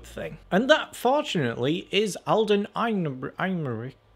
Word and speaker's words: Alden Ehrenreich: And that, fortunately, is Alden Ehrenreich. How do you say his name? Alden Ehrenreich as Han Solo.